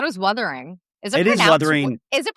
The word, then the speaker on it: Wuthering: It is Wuthering. Is it pronounced Withering?